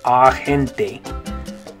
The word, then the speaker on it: agente: In English, the A makes an A sound, agent. But in Spanish, that A will make an A sound, agente. Agente. So not agente. not a gente, right? In Spanish, it's going to be an ah sound.